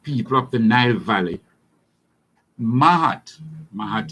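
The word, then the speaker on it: Maat: To the ancient black people of the Nile Valley, Mahat is spelled M-A-A-T, Mahat was the highest ethical commitment.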